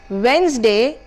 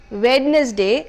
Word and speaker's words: Wednesday: you pronounce pizza the next word is Wednesday and not wetness day as many of us pronounce it the der sound here